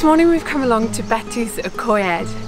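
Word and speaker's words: Betws-y-Coed: This morning we've come along to Betws Y Coed. Apparently a lot of people mistake it for being known as Betws Y Coed, and I'm hoping that I've not butchered the pronunciation of it.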